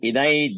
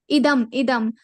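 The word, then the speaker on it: इदम्: Like, for example, if you take shloka number 2, we are pronouncing like idai jnanam upashritya mama sadharmya magataha. Yes. So, but actually it is idam jnanam upashritya.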